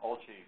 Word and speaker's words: OLCI: co shi-lang color imager by the way it's pronounced olci because is put on in Italy anyone who